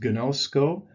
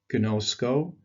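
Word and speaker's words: γινώσκω: The first word is gnosko. You see the 2 omegas there, gnosko.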